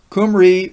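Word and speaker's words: Cymry: This letter V sounds as U, except when it stands in the last syllable of a word, and then it has the sound of the Italian I or the English EE. Hence the Crete pronunciation of the country of Wales or land of the Cymri in its ancient tongue would be as near as possible to the name Qumri or Qumri or Qumri.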